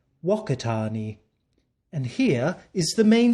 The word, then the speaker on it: Whakatane: let's take a look this is walk itani or as the Maori people like to pronounce it Arnie personally the Maori pronunciation makes me think of other things mmm delish but i like to pronounce it the proper way waka tarney and here is the